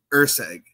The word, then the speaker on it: Erceg: So it is Lucas Erceg.